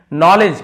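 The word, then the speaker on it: knowledge: नॉलेज, के silent है, D silent है।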